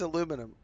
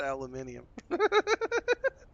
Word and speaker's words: aluminum: It's It's aluminum, not aluminium.